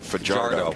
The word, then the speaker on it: Fajardo: But he pronounces it fajardo, which is I got to have I got to have your back.